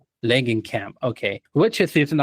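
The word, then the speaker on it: Langenkamp: Langan, do you remember how to pronounce her name? Len Camp. Langen Camp.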